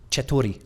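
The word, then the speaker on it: چطوری: Yeah, I think everybody around the world can pronounce something like che. Chetori. Yeah, so that's how are you? Chetori. Chetori. That's Yeah, exactly. and it's got a re on the end.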